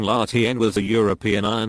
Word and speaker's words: La Tène: the Latin culture / LT n / French pronunciation Lahti and was a European Iron Age culture named